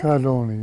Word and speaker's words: Cadoni: thanks to Joe cadoni is that how they say it cadoni yeah cadoni who is the head